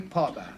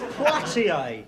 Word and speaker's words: Poitier: Sidney Potter. It's Poitier.